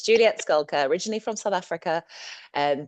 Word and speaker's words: Schalker: it is unusual and I get called all sorts of things from shel to shaka but it's actually pronounced skulka like skulking around in the bushes which is one